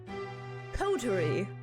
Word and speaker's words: coterie: Pronunciation. Coterie.